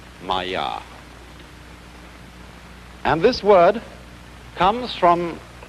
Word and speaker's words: Maya: this kind of thing is the Sanskrit term Maya I'm gonna write that down for you pronounced maiya and this word comes from a root in